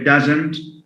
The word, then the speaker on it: doesn't: We say doesn't and didn't. Sometimes I've noticed that some foreign language learners tend to say didn't and isn't, doesn't. Now, stress falls on the on the first syllable.